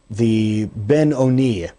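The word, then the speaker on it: Beinoni: It is brought down in the Tanya that there's this one known as the Ben Oni, or sometimes pronounced the Benoni, the one who is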